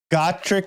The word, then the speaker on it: Gacharic: It's actually a soft G at the beginning.